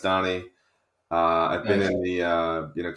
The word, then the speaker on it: Dani: It's actually spelled Danny, pronounced Donnie.